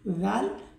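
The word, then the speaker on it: ذال: জিহ্বার আগা সামনের উপরের দুই দাঁতের আগার সঙ্গে লাগিয়ে জাল উচ্চারিত হয়।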